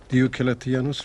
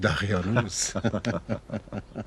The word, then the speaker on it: دیوکلتیانوس: هنوز نمیتواند درست تلفظ کند. دیوکلتیانوس را میگوید دقیانوس.